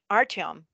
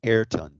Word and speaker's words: Ayrton: So what we ended up doing, and I believe it's Artom, I really don't know if Arton, I am. It's pronounced Ayrton.